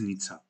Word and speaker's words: Nice: In Georgian, it is Nitsa, the city in France.